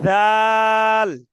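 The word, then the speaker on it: ذال: জাল এই যে দেখছেন ভাইয়া, জাল হবে না, এটা জিহ্বার আগায় কামড় দেন, জিহ্বার আগায় কামড় দিয়ে ধরেন, জিহ্বার আগায় জাল এই তো সুন্দর হয়েছে ভাই, এইভাবে।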